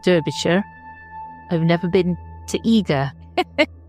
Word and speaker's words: Derbyshire: Even though it's spelled Derbyshire.